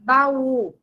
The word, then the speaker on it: baú: Na palavra baú, é o u, né?